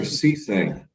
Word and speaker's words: Cisse: All right, Mr. Cisse. That's how you say it, correct? Yes, sir.